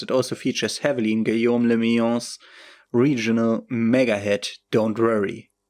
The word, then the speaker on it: Guillaume le Million: Forever show you a city that meant only one thing, Guillaume le Million. If it doesn't rhyme, you're not pronouncing it right.